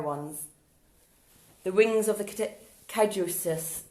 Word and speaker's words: caduceus: The wings of the caduceus, how do you say that word? S-U-E-C-U-D-A-C, sus-ud-ak, caduceus, caduceus.